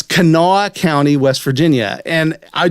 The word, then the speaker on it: Kanawha: from kanawha county west virginia you know it's pronounced kanawha it's kanawha county west virginia and i just thought that